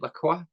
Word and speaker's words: Lacroix: Lacroix.